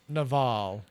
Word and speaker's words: Naval: is Naval, which is spelled like naval, Naval, like naval.